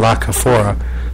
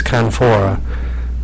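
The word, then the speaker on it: La Canfora: pronouncing his last name I always want to call him kaora but it's canfor um he he wrote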